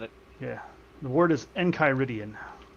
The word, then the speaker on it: Enchiridion: The word is Enchiridion. Enchiridion? I believe that's the pronunciation. At least that's how they say it in Adventure Time.